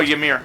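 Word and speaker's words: Ymir: worm y m i r is is I pronounce worm Y what y m i r that's how oh yamir yamir there you go that's what it's called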